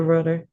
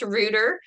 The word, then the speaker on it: Ruder: Ruer, thank you for agreeing to come on today.